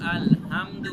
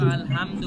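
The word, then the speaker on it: الحمد: একটা জিনিস খেয়াল রাখবেন এখানে অনেক মানুষ ভুল করে আলহামদু বলে কিন্তু আলহামদু বলা যাবে না বলতে হবে আলহামদু আলহামদু আলহামদু আলহামদুলিল্লাহ আলহামদুলিল্লাহি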